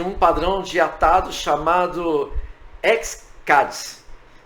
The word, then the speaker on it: X-Caddis: padrão de atado chamado x cards Possivelmente vocês devem ver algum vídeo do YouTube com a pronúncia como chamando de xcats Tá mas não tem problema o importante é que